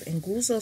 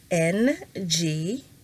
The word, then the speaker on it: nguzo: Okay, so the 7 principles of Kwanzaa are called Nguzo Saba. And When you see, that's N-G-U-Z-O, nguzo, right? So you want to say it like it's back here in your throat, nguzo, Saba.